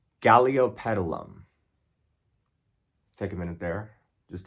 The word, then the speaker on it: Galeopetalum: How many of y'all can pronounce Galeopetalum? Take a minute there, just to appreciate the beauty of that word. Galeopetalum.